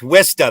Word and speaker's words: Worcester: It's pronounced Worcester. It's Wista.